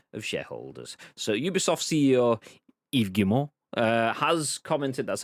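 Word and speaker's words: Yves Guillemot: in the interest of shareholders so ubisoft ceo eve gilmore uh has commented that's how you pronounce by the way it has commented on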